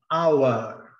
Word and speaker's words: hour: O R não é pronunciado, é muito pouco sentido. Hour, não chega nem a pronunciar.